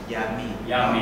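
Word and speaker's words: Jamii: How do you pronounce it? Yami. No stress. Yami.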